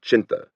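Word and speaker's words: Chinthe: He had been brought to this view by an enemy, Brigadier Or Charles Windgate, a messianic figure whose Chindits, a mispronunciation of Chinta, Burmese for lion, had been harassing the Japanese commanders of Burma in a number of unorthodox stabs far behind the lines.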